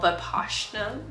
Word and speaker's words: Vipassana: And then I do the 10-minute like actual Vipassana, that's the correct way to say it, meditation.